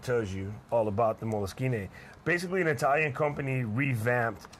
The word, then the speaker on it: Moleskine: It's actually Moleskine because that's just the way it's pronounced in Italian.